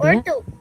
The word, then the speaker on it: bien: Actually pronounce it bien.